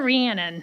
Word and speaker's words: Rhiannon: I've been practicing it it's Dr ranan yes like Shannon with a re Shannon with a re